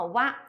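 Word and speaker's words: は: 的话呢，它读成了 wa，这个是只有它在作为助词的时候啊，wa 呢是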